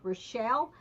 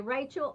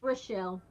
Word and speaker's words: Rochelle: Savers they may either actually to pronounce it is Rochelle but most people will say Rachel or Michelle or Raquel if they're right Hispanic they'll say Raquel but it's yeah it's Rochelle my dad he was